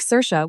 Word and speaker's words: Sorcha: Her name is Sorcha, my grandmother's name, Irish, pronounced roughly like Seersha, which I knew would cause difficulties but had decided I didn't care about.